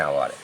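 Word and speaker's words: hour: যেমন ধরো অ্যান আওয়ার, এক ঘন্টা, এইচ ও ইউ আর, এটা কিন্তু হাওয়ার উচ্চারণ হচ্ছে না, এইচের উচ্চারণটা ওয়ের মতো হচ্ছে।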